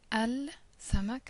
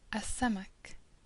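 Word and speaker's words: السمك: So instead of saying al-samak, as we've done up until now, we say as-samak, an-nur, ash-shajara, at-tayyar, ad-dabit.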